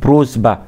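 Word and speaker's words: просьба: تمام، بعد كده بروزبا بروزبا بروزبا، يعني بتنطق سه شوية يا جماعة شوية، بس هي في الآخر والأول، يعني في الأول بتنطق سه، في آخرها بتنطق سه، بروزبا بروزبا.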